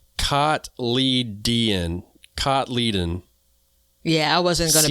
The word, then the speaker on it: cotyledon: they spelled it phonetically, cotyledon. Yeah, I wasn't going to be there. Mm-hmm. Yeah, it's spelled, the phonetic spelling of it is Kotleeden. So we'll say seed leaves